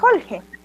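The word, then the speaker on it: hulqi: Si bien acá tenemos Julgi, que se escribe así, ¿por qué la pronunciación es Holge?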